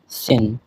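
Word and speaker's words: zehn: 9 কে বলা হয় নয়েন এবং 10 কে বলা হয় সেন। আপনারা এই উচ্চারণগুলি সহ দেখবেন।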